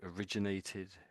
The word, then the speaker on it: originate: So obviously it comes from origin origin origin. But when you put the eighth on the end of it, it comes out slightly differently.